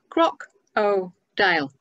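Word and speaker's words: crocodile: And then we got to croc-o-dile, and I said it very carefully, croc-o-dile, three syllables.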